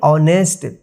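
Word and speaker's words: honest: यहां पे जो है एच जो है साइलेंट हो जा रहा है यानी एच का कोई उच्चारण नहीं हो रहा है तो इसको हम पढ़ेंगे ऑनेस्ट टू T double O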